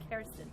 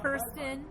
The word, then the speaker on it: Kerstin: Kerstin. It's Kerstin. Oh, come on. Nobody's going to say Kerstin. I know. You're going to say I know. Kirsten. Yeah, Kirsten is what people probably say, right?